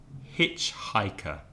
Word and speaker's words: hitchhiker: And my students often have problems with hitchhiker, because if you remember last week, the problem with the H sound, h, which is sometimes pronounced h by Spanish speakers.